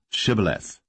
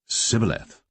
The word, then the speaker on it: shibboleth: said they unto him say now shibboleth and he said sybileth for he could not frame to pronounce it right then they took him